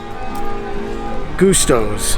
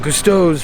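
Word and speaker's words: Gusteau's: in front of it leading up into gastos gustos i said it wrong cousteau's restaurant and that will get us onto the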